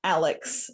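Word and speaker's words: a11y.css: Also, it's apparently pronounced Alex.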